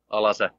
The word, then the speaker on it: Alase: And we formed Alase, or Alase, like I pronounce it as a Finn, Alase.